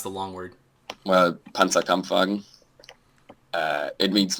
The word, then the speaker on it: Panzerkampfwagen: Then how do you pronounce the long word? Well, Panzerkampfwagen.